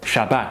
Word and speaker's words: Shabbat: They then numbered the next days 2nd, 3rd, 4th, 5th, and 6th, and then the last day was the Sabbath, or Shabbat as it probably should be pronounced, the day of rest.